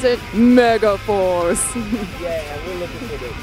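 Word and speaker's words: Megaforce: Mega for is that how you're supposed to pronounce it Mega Force yeah we're looking for the Mega Force babe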